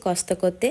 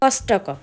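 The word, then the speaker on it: Costco: আপনাদেরকে একটা কথা বলি, কথাটা হচ্ছে কস্তক। এই কস্তক উচ্চারণটা কিন্তু হচ্ছে জাপানি উচ্চারণ, তবে যদি এটাকে ইংরেজিতে উচ্চারণ করা হয় সেই ইংরেজিতে উচ্চারণ হবে এটা কষ্টক।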